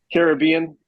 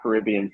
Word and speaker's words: Caribbean: sitting in the sun in the Caribbean. It's not Caribbean, right? It's Caribbean. How do you say Sure. it? Well, what's Pirates, the movie called? Pirates of the Caribbean. Right, it's the Caribbean.